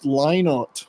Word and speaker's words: Lynott: Because for years, like most people would say Lynott. Phil Lynott. Well, his daughters. So yeah, it's pronounced Lynott, according to them.